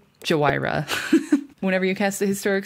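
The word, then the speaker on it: Jhoira: Which, as previously stated on Cumulative Upkeep, we will be pronouncing her name Jawira.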